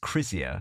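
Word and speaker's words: Krizia: the name of that so yeah I didn't pronounce it even remotely right I should imagine but the the brand is Cia which is k r i z i a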